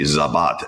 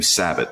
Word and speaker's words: Sabat: just became Sabbath it should be zabat s z B- a t M but it just became sabbot at some point and I jok that I would one day like to change the legal pronunciation of my name there you go